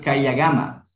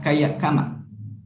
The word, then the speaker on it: kayakama: Por ejemplo, Kayagama. El primero se lo pronuncia como K, K, y el segundo sería la GA. K, ya, GAMA. ¿Sí? Porque si no sería Kayakama. ¿Sí?